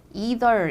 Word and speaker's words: either: E라고 발음하는 사람도 있지만 I라고 발음하는 사람도 있어요.